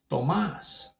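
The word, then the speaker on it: Tomás: But in Spanish, my name is Tomas, which is Tomas, and the A usually has a little asterisk over it. It's not a name change, it's a name pronunciation change.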